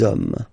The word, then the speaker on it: hommes: You don't pronounce it, so you get des hommes, des hommes, des hommes.